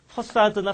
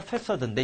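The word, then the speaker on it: façade: 발음 조심해. C가 S 발음이나. 근데, 혹시 지금 검색이 가능하면 네이버나 우리 외래어로 이 두 가지 중에 하나로 할 거예요. 퍼사드나 패사드인데 이건 뭐냐면 우리 경복궁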